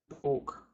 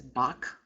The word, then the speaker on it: bok: A lot of people want to pronounce this as bak. That's because they don't know the vowel sounds. Or ah is the A sound. This is written with O, so it can't be bak. Bok.